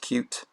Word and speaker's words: Qt: code in here so QT is a cross-platform library it's actually pronounced cute this location contains something